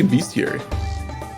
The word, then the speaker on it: bestiary: and a full bestiary is that how you pronounce it i say beastiary i mean i guess there is no a right he's a young treasure